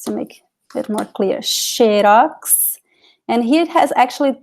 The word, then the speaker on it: xerox: So we have the, it sounds like SH in some cases, like xerox.